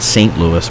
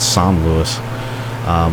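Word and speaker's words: Saint-Louis: And when we get to I think it's pronounced San Luis. You know, the American in me wants to call it St. Louis, but I think they call it San Luis.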